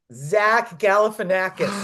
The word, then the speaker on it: Galifianakis: Zach Galifianakis.